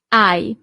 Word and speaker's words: hai: Tu hai. So you don't really pronounce the H at the beginning.